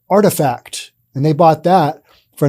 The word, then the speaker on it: RTFKT: something different and not appropriate it's not it's pronounced artifact and they bought that for an undisclosed amount